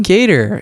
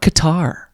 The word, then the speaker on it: Kattar: giga who's he farting calvin gator and it's not qatar why are people saying that it's not the tar people random people